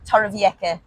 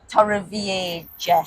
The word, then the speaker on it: Torrevieja: They're in the Torrevieja region, but if you listen to our English-speaking sat-nav, it's Torrevieja. Yeah. So it's just as well we know how to pronounce them.